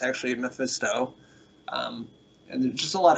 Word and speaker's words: Mephisto: I don't know how you pronounce that. Mephisto, yes.